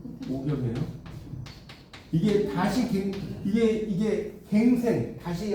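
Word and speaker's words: 五更: 이거 갱이라고 읽으면 안 돼요. 이때는 경이에요. 오경이에요.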